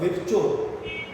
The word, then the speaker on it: Virchow: एक साइंटिस्ट था Rudolf विर्चो। Okay, उसको आप विर्को भी बुलाओ, VIRCHOW, मैं विर्चो बुलाता हूँ, विर्को भी बुला सकते हो, जो भी इसका सही प्रोनाउंसिएशन है आप उसको याद कर सकते हो।